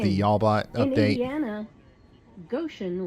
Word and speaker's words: Goshen: In Indiana, Goshen rhymes with ocean.